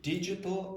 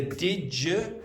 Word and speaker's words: digital: digital accessibility ensures that Okay, so this should be digital accessibility. digital Yeah, the dig became digital. So this is a common mistake for Spanish speakers as well, not being able to pronounce the j.